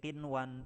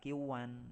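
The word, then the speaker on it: قنوان: Kita bacanya menjadi qinwan, tidak kiwan ya.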